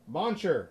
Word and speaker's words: Muncher: How do you say his last name? Muncher. Okay, so it's really as simple as it is spelled.